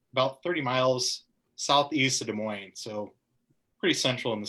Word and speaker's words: Des Moines: the whole show like Des Moines and I would have gotten hate mail from Iowa. It's not Des Moines, Sean.